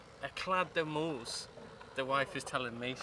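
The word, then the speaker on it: Éclade de moules: So we're going to do some cooking, and we think the French word for it is Moules d'Eclade. Eclade de Moules, the wife is telling me.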